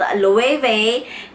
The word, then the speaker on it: Loewe: Yes, Loewe, or maybe some of you may pronounce it in a different way, but it's actually called Loewe.